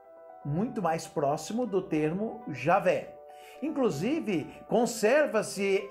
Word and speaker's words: Javé: estudiosos Podem trazer para mostrar que Javé é a pronúncia correta de Deus e que Jeová é uma pronúncia equivocada Com certeza do nome